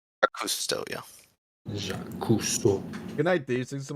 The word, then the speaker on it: Jacques Cousteau: Jax Cousteau versus Steve Irwin. Did I pronounce that right? Cousteau, yeah. Jacques Cousteau.